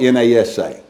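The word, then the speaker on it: נשא: Take is the Hebrew word nasa or nasa. It's spelled N-A-S-A. Pronounced nasa.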